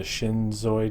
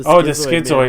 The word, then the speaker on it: Schizoid: Episodes I remember were the Shinzoid Man. Is that how you pronounce it? Oh, the Schizoid.